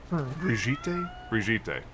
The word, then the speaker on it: Brigitte: But yeah, the the e at the end is not silent.